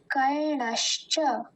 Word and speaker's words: कर्णश्च: और जो पहला भाग मतलब कर्ण, ये तो मतलब आसानी है, हमें णकार का मतलब उच्चारण का ध्यान देना है। उसके नीचे हम हलंत जैसा नहीं लगाएंगे, वो पूरा ही होगा, तो इसका उच्चारण है कर्णश्च, कर्णश्च।